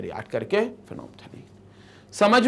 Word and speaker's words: phenolphthalein: अब ये structure will be called as फेनोप्थलीन, तो ये जो होता है ये स्ट्रक्चर आपका कहलाता है फेनोप्थलीन, ये फेनोप्थलीन है, so this is फेनोप्थलीन, pH silent रहता है इसमें, फेनोप्थलीन ऐसा बोलते हैं इसको, तो ये आपका फेनोप्थलीन